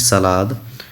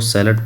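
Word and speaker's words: salad: Next देखिए, does he नॉट अगर लगे, डज ही नॉट ईट सलाद, तो क्या हो जाएगा, इज। सलाद को सैलड पढ़ते हैं, स्पेलिंग वही लिखते हैं, पढ़ते हैं सैलड।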